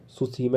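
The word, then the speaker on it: Tsushima: पढ़ा था ठीक है यह क्या है सुसीमा है टी साइलेंट है टी यहां पर साइलेंट होती है ठीक है सुसीमा सु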